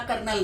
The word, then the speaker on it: colonel: भी बोला जाता है, मिलिट्री वाला कर्नल नहीं, ये KERNAL, वो कोलोनेल स्पेलिंग होता है उसका, COLONEL।